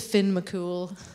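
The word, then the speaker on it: Fionn mac Cumhaill: uses the Roman alphabet so that is Finn McCool as you can see most of the letters in the third word are silent so it's it's quite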